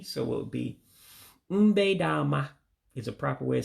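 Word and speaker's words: Mgbede ọma: Good evening in Igbo would be, this is one that you have to also drop that second E, so you won't pronounce it. So to say good evening would be mbe dama. You run all the words together.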